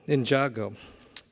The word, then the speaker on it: Ninjago: how do you say that oh Lego Ninjago Ninjago uh and decoded for the Cartoon Network OMG